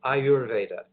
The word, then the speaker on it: Ayurveda: are the two words that plays together it's pronounced Ayurveda now it is a science but it's got